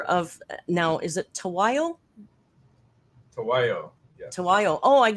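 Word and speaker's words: Tahuayo: Tawayo.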